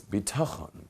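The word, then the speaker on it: בטחון: Lacks bitachon. Bitachon, everyone practice that Hebrew word, bitachon.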